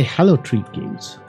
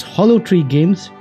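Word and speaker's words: Hollow Tree Games: of the world made by hallow treat games although three games yes I shouldn't pronounce their name wrong it's hollow three games and they have sent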